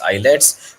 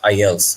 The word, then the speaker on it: IELTS: il-sung student says it's I assumptions say it's eyelets but the right pronunciation is I ELLs like international English Language Testing system students who